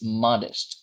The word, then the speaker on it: modest: And uh, finally, we have this one is this one is modest. Once again, modest. Modest. Okay, it is stressed on the first syllable.